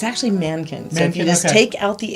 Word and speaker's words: Mahnken: chapter of life and the H by the way is silent so if you're looking at the major another we give it a little breathy bang yes but if it's actually Mankins you just take out